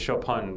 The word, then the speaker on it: Chopin: That's spelled Choppin. You ever heard of that? Chopin. Chopin. That's Russian, though. It's Chopin because it's French. It's actually a French name. Oh, it's not Chopin.